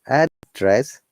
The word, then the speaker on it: address: is your address okay when you're saying known as address the stress is on the first part or we call it upper inclination to low orientation address is going down address if you have